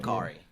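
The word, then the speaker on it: Makkari: You're saying it right, but it depends on the accent you put on it though. Um. But yeah. Makari.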